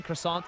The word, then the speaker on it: croissant: You don't really pronounce the T in croissant anyway, do you?